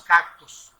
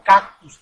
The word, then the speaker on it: cactus: Aquí viene la piña, y en general todos los cactus, o cactus, también se puede pronunciar de esa manera, ¿sí?